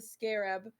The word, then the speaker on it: scarab: He did find a piece of the scarab.